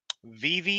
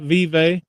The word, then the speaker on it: Vevey: It's not Vive. Sure. No, I'm curious because maybe I've been pronouncing it wrong all these years. Well, I mean, I guess if you live in Indiana, it's probably Vive, but over here in Kentucky, it's Vevey. Vevey.